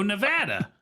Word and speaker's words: Nevada: Mike, it's Reno. We're gonna be in Reno, Nevada. Hey, you said it right. Reno, Nevada. Yeah. Yes. So the right pronunciation is a Canadian pronunciation. Nevada. No. Just like the way it sounds. There's no H in there, dude. Nevada. Yeah. I've heard it both ways.